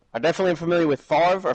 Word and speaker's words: Favre: I definitely am familiar with Favre or Farva, which how was it pronounced? Favre.